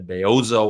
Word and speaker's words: Bellozo: Severino for that one going with the beoo I get it that's how he pronounced the double L's um I guess in advance of that if it was without the prompt from Sev I would have probably gone for belloso it's probably the Italian version isn't it I